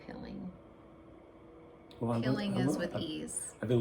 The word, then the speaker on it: pilling: I'm actually laughing inside because you said piling, and that's the right way to say it, and I've been saying pilling.